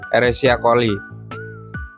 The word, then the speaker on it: Escherichia coli: Bacanya pakai bahasa ini ya, pakai bahasa Inggris ya, Escherichia coli, yang masuk ke dalam saluran kemih melalui uretra dan berkembang biak di kandung kemih.